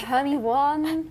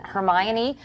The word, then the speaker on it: Hermione: I've had so many different interpretations. Like, oh, um, Hermione, uh, Hermy One. But now I guess now I guess because of the movie, everyone knows how to say her name.